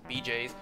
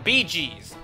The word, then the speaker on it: Bee Gees: Staying Alive by the Bee Gees BJs whoops wait what are they called again I gotta look this up I got their name wrong regardless the Bee Gees there it is what the hell am I talking about BJs that's something totally different oh God that stupid